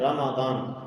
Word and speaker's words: رمضان: نام بھی رکھتے ہیں، لیکن رمضان بولتے ہوئے ہم اس کا صحیح تلفظ نہیں کرتے ہیں، ہم رمضان بولتے ہیں۔ رمضان عربی میں رمضان نامی کوئی چیز نہیں ہے۔ شہر رمضان، میم کے اوپر زبر ہے، رمضان۔ تو جس کسی کا